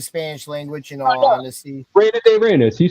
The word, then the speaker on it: Reina de Reinas: I usually butcher the Spanish language, in all honesty. Reina de Reinas, you said it right.